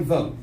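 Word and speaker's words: Voatz: After that, we're going to put it up to a district-wide vote.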